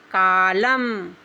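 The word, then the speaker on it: column: अब हम इसको एन को साइलेंट करेंगे। एन नहीं पढ़ेंगे। तो हम क्या पढ़ेंगे? कालम।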